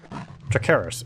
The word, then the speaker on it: Tricharis: You found the wrappings that Gondival Harthing wanted you to get from Tricharis. Tricharis? Triceras? Tricharis. It looks like a Latin name, so it would be a hard C.